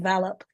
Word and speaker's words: VALOP: And Jonathan, you started the call by asking if you pronounced the name of the company right. It was my American side when I said yes. I was being polite. The answer is no. The company is called VALOP.